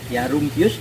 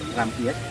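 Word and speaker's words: Rumphius: pada tahun 1705 oleh Rumpius namanya, yaitu tulisannya Rumpius, nama aslinya adalah, bacanya adalah Rampius, tulisnya Rumpius.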